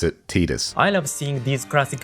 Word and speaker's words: Tidus: Yes, the producer Nakashima said Tidus and pronounced it Tidus.